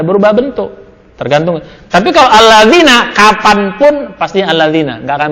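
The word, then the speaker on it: الذين: Alladzina itu artinya apa? Orang-orang yang. Itu sampai kapanpun Pak, itu pasti bacanya alladzina. Mau dimanapun kedudukannya, itu pasti alladzina.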